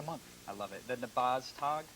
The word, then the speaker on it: Nabaztag: The Nabaztag? Nabaztag. That's correct. All right. Everybody will butcher the name, but everybody will have one as well, I'm sure.